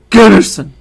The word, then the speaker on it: Gunnarsson: You have to say it like this. Gunnarsson. It was a a chick from Iceland that told me that. Oh yeah, like the sun. You gotta emphasize it. Emphasize the sun.